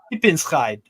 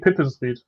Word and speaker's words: Pipinsried: I think it's pronounced Pippenscheid. Yeah, I'm no, it's not right. It's not. It's Reed. It's Reed. It's FC Pippensried.